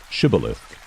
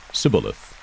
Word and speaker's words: Shibboleth: If he said, "No," then they would say to him, "Say now, Shibboleth." But he said, "Sibboleth," for he could not pronounce it correctly.